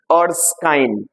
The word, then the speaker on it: Erskine: ERSKINE উচ্চারণ কি? আর্সকাইন।